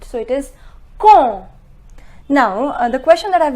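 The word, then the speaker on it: quand: comb it is common remember this D is silent so it is cool now the question that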